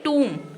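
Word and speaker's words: tomb: बनेगा टूम ठीक है टी ओ एम B spelling होगी बोलेंगे टूम क्या बोलेंगे टूम टूम का मतलब होता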